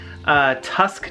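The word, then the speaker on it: Tusq: Hey, I got you a Graph Tech Tusk nut, and it's spelled T-U-S-Q.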